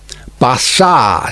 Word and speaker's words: Barsad: "Bassard," said Defarge, making it French by pronunciation. But he had been so careful to get it accurately that he then spelt it with perfect correctness. Barsad, repeated Madame.